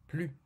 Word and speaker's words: plus: نجد في هذه الجملة نوعا آخر للنفي مع كلمة plus من دون نطق الحرف S. plus.